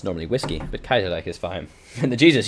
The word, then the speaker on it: Kaiserreich: Someone of you with the Jesus says that it is actually Kaiserreich. Kaiserreich. But it's Reich, isn't it? It's Reich. So you pronounce Reich.